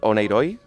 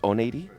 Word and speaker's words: Oneiroi: me well it's a we in Spanish call it onoi but Greek will disagree and and the corrent pronation is on8 okay so yeah Ono